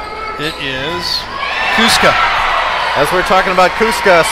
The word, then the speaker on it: Cusco: off on foot Cusco two syllables Cusco yeah okay I'm sure